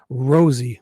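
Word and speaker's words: Rozzi: He spelled it R O Zi and he said Rosie like a like a rose, like a flower.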